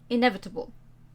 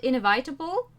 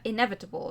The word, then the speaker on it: inevitable: but at this time i said it right inevitable not invitable but inevitable right i learned i've improved